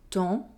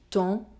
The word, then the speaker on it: temps: Remember to nasalize the sound en and not to pronounce the M or the N. Je mange. Je mange. Quand. Quand. Banque. Banque. Temps. Temps.